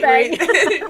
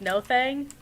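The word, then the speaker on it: Nothung: No thing. No thing. Yeah, I'm pretty sure. I'm pretty sure it's pronounced like no thing.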